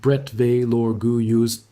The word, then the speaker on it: Bretteville-l'Orgueilleuse: They drove through Bretteville-l'Orgueilleuse, pronounced Bretteville-l'Orgueilleuse, and kept going south.